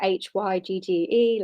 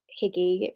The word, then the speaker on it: hygge: the thing that's about h y g g e like higgy you might pronounce it but it's hygge which is like the danish way of living which is